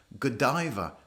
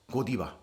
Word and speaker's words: Godiva: box of godiva so in english we pronounce this chocolate manufacturer godiva not kodiba godiva maybe you can